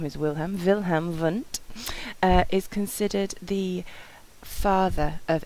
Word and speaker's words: Wundt: This is looking at Wundt. It is pronounced, the W is pronounced as a V because he is German, and the V in